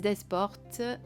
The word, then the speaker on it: Desportes: Et il a été créé par Lise Desportes, je dirais, sans prononcer les S, je pense que c'est comme ça que ça se prononce, et Aude Naturelle.